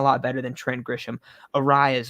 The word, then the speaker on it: Arias: I always say Arias, but it's Arias.